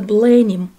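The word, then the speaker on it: Blenheim: Это дворец Бленхейм, или по-английски произносится Бленим, родовое имение герцогов Мальборо, один из крупнейших дворцово-парковых ансамблей Англии, который расположен на окраине Вудстока в графстве Оксфордшир.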